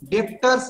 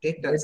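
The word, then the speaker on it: debtors: डेब्टर्स नहीं बेटा, डेटर्स। बोल बोल मुझसे। डेटर्स। डेटर, बी साइलेंट रहता है बेटा, साइलेंट रहता है, वो प्रोनाउंस नहीं होता है।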